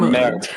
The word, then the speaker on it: merde: Mange de la marde. Yeah, there you go. See? And mouth for shit. Do the mud sounds like eat shit? Marde. Or merde.